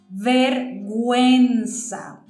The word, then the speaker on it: vergüenza: This word means shame, and it's pronounced vergüenza. And I know that because I had diéresis on that U.